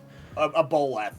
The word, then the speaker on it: aboleth: A boleth, yeah, it's aboleth.